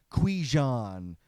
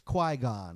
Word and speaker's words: Qui-Gon: I thought it was Qui-Gon. Turned out it was Qui-Gon, and I don't know if that's an improvement.